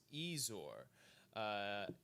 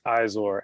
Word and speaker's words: Izor: But on the line now, we have got Ezor. Is that right? Is that how you pronounce it? It's Izor, actually.